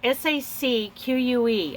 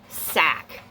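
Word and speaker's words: sacque: called a crocheted Sac s-a-c-qu I'm pronouncing it Sac please correctly that's Jill we got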